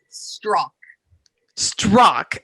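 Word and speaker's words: Adolph Strauch: is no that's fine correct corner me now straw struck okay so he was a landscape artist or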